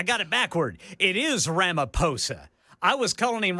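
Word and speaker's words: Ramaphosa: It is Ramaposa. I was calling him Ramoposa. Apparently in South Africa the H is silent.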